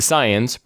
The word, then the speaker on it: Saiyan: The Saiyans, pronounced Saiyan, attack the city hunting for Ozaru and Piccolo, who were sent to Earth to conquer it 2,000 years ago.